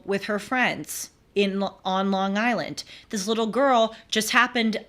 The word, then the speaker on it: Long Island: be careful and uh I think it's pronounced Long Island they like they run it together sometimes I really wonder I really wonder Long Island thank you yeah you're